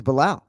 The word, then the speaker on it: Belal: I like it more every time too, and I think you pronounced his name pretty close to correctly back in the day. It was Belal, which was good.